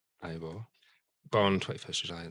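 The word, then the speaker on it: Eivør: Ivo Palsdottir, pronounced Ivo.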